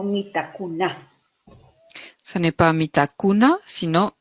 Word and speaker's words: Mitakunah: La pronunciación del mantra Mitakuna La prononciation du mantra Mitakuna es acentuada en la última sílaba. c'est en mettant l'accent sur la dernière syllabe. No es Mitakuna, sino Mitakuna.